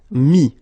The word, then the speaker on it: mis: Final S not pronounced, so mettre, to put, mis.